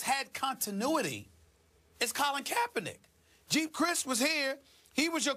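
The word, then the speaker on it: Geep Chryst: But Colin Kaepernick, the quarterback, has an offensive coordinator in Jeep Christ. I believe that's how you pronounce his name. Right. It's G-E-E-P, No, Jeep Christ.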